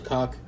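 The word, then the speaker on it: kok: Which his hump on his head is actually called a cock. It's spelled K-O-K.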